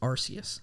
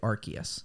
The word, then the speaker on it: Arceus: voice director Tom Whalen the dub chose to pronounce Arceus with a hard C instead of a soft C due to concerns over